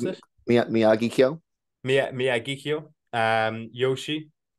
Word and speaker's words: Miyagikyo: We're gonna go with coffee grain, coffee malt, uh, Miyako. Is that how you pronounce it? Miyagikyo.